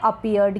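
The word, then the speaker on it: appeared: क्या है अपीयर्ड, यहाँ ये डबल पी है, इसको प पढ़ रहे हैं। ये जो ई ए है इसको ईयर पढ़ रहे हैं। आर का आधा र उच्चारण हो रहा है आर का, और ईडी का क्या बन गया, ड बन गया।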